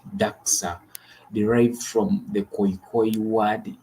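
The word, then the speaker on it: dagga: The Africans term commonly used to refer cannabis is daga, and of course, Afrikaner's pronunciation it is daxa, derived from the Khoikhoi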